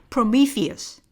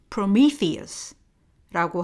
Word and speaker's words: Prometheus: 영어 발음은요, Prometheus, Prometheus라고 하고요.